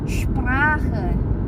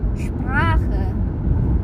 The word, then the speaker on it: Sprache: Nah, kalau misalnya ini di depan seperti kata Sprache atau Sport, nah itu S-nya dibacanya agak sh ketika ketemu P. Tapi kalau misalnya seperti di kata ini, transport, itu SP-nya dibacanya biasa aja, nggak perlu dibikin sh, transport. Tapi kalau misalnya agak di depan tadi seperti bentuknya Sprache, Stunde, itu dibacanya agak sh gitu.